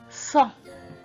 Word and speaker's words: cent: And 100 in French is cent. Cent. That's how it is pronounced.